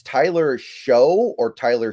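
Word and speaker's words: Shough: It's Tyler Show or Tyler Shuck. I've had some people tell me his name is pronounced Shuck, but it's looks like it's spelled show, so whatever.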